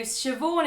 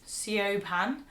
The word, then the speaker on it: Siobhan: So Siobhan is actually spelled like this. Siobhan.